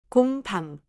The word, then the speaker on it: 공: Now, 공. It is one syllable, and that one syllable already contains the final nasal ending.